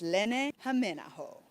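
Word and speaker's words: Lenni Hämeenaho: Thing you need to know is how to properly pronounce his name. It's Len Jameo.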